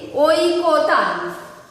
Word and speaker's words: ঐকতান: একইভাবে যদি আমরা ওই দিয়ে লিখি, ওই কোতান, ওই কোতান, অর্থাৎ একই সুর বা বিভিন্ন সুরের সমন্বয়, তাকে বলে ঐকতান। এখন এটাকে যদি আমি বলি উচ্চারণ করো, তাহলে কি লিখবে? ওই, ওই কো তান, ওই কো তান।